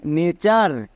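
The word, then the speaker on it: nature: sound একার sound হবে মনে থাকবে হোয়াট প্যাটেন এর ঠিক আগে যদি এ থাকে এ এর জন্য রুলস চেক করবো না এর লং সাউন্ড হবে যেমন নেচার একই রকম ভাবে এটা হচ্ছে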